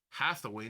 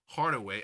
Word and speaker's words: Hathaway: It's Hathaway, not Hardway.